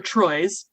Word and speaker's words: Troi: a crewman's quarters counselor troy's pronounced like trois pronounced like the french three is speaking to a